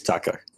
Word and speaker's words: Taco: Because I don't think it's Teco. I think it's Taco.